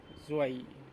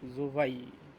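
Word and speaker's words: zwei: ইংলিশে টু, জার্মানে হচ্ছে জোয়াই। জোয়াই, জুয়াই না, জোভাই।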